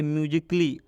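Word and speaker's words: musically: जैसे म्यूजिकली, इस म्यूजिकली में ए है और ए के बाद डबल एल वाई आया है, तो इस ए का उच्चारण नहीं करेंगे। मतलब ये इसको हम लोग पढ़ेंगे म्यूजिकली।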